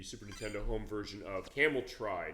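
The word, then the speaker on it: Cameltry: Nintendo home version of Camel Try. Not Camel Tree. I call it camel tree, but it is spelled as it looks as far as how it's spelled out.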